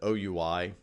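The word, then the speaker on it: OUI: the organizationally unique identifier unfortunately we pronounce that oh you I the acronym I wish we said we but we don't it so you I and that's exactly what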